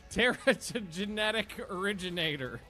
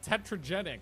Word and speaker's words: Teratogenetic Originator: Teratogenetic originator. Nailed it. Well, it took 6 times. I always call it tetragenic, but that's not it.